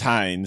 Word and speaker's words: Hayne: Well, he's Hayne, so it's the plane. It rhymes.